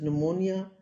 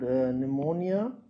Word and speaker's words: pneumonia: the lungs is called pneumonia and the spelling should be clear to everybody the p is silent and this is causing